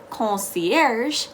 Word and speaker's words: concierge: the english language structure concierge has a very soft a very um nasally comb instead of con you can also say concierge they will understand you well but remember that it's like air like hava concierge and then you're all good to go now let's say you